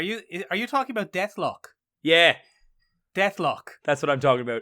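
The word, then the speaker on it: Deathlok: Death Clock is an actual thing.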